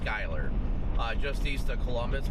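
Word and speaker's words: Schuyler: Shul or Skyler? It's pronounced Skyler.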